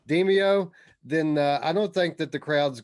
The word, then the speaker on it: Demeo: this show without mentioning demayo or demio i'm still saying call it saying it wrong demeo then uh i don't